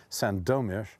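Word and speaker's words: Sandomierz: to Santa Mira or Sando mesh because the accent and polish is on the second syllable Sando mesh or needless to say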